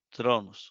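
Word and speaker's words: θρόνος: Muchos, usted va a encontrar que, por ejemplo, muchos lo pronuncian así. Esto es una R. Estoy en griego. Tronos, así. Tronos, una especie de TH. Entonces, penúltima está tildada, ¿la ve? Tronos o tronos en la pronunciación de Erasmo de Rotterdam.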